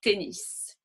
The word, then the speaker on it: tennis: Donc, on prononce le S, un autobus, le tennis.